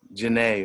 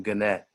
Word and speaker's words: Genet: agenda of the man Citizen Genet or Citizen Gannett, depending on how you want to pronounce his name.